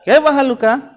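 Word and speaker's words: كيف حالك: Kaifa haluka? Kaifa haluka. Boleh tidak kaifa haluki? Boleh, bisa dua ya. Makanya dibaca, nggak boleh disukunkan. Kalau sudah belajar ini, nanti nggak boleh disukun bacanya. Nggak boleh kaifa haluk.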